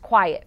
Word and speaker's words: QIAT: indicators for assistive technology also known as q-i-a-t pronounced quiet for short today i am speaking